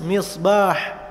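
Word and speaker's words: مصباح: Mis, misbah. Banyak guru tajwid bilang mis, mis. Salah. Mis, mulutnya biasa aja, bibirnya biasa aja. Mis, misbah, misbah.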